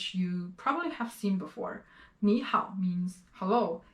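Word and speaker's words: 你好: So when I'm actually saying 你好, I'm actually changing this one to a second tone here. 你好, 你好.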